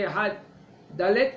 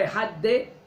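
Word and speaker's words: אחד: avec cela, on fait Ehad Dalet, on ne dit pas Ehad De, et ni Ehad. Alors tu ne prononces pas le Dalet, et Ehad. prononces le dalet, mais très très léger.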